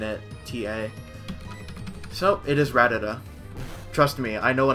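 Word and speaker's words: Rattata: It is not Ratatata. You need one more ta in it. T-A. So, it is Ratata.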